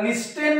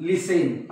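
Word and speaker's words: listen: उच्चार होत नाही म्हणजे याला लिस्टेन म्हणतात तुम्ही काय म्हणतात लिसेन आपलं लिसन तुम्ही याला ऑब्टेन म्हणतात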